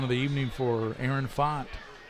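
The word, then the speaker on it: Pfaadt: up second touchdown of the evening for Aaron font it's spelled PF aadt but pronounced pot and he's a player especially running the ball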